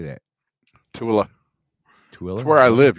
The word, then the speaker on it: Tooele: The Cabela's account out of Tool. How do you say that? Tooele.